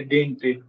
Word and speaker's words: didn't: Yes, I came to know that it's a dint. Pronunciation of didn't, it's dint.